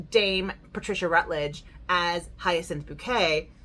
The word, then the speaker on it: Bouquet: In front of Hyacinth Bouquet's white slimline telephone? No, it's pronounced bouquet.